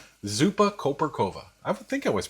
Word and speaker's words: Zupa koperkowa: The Polish dill soup is pronounced as Zupa Koperkowa. Zupa Koperkowa.